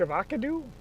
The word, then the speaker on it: Avoca: We're in Avocado. That's not how you say it. Just south of Harlan, Avoca.